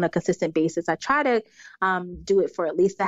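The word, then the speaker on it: TeuxDeux: Another personal habit that's helped me significantly, to-do lists. So I actually use an app. It's called To-Do, but it's spelled T-E-U-X.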